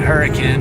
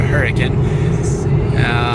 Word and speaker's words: Hurricane: We just went through Hurricane, I think is how you say it, not hurricane, but Hurricane.